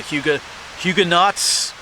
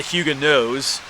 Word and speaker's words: Huguenots: They were known as the Huguenots or the Huguenots. The T is actually silent there, I believe, if we say it correctly.